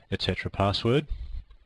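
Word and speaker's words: /etc/passwd: an actual file called slcp sswd it's usually pronounced Etc password for obvious reasons now if you have permission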